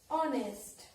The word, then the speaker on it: honest: For example, honest. For example, honest. Now children, see here, H. H is consonant, but here sound is vowel.